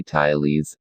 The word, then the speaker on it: Thales: his name we say ty Lee's emphasizing the first syllable there may have been other scientists before Talese but if there were we do not know their names early life and education Daley's was born into a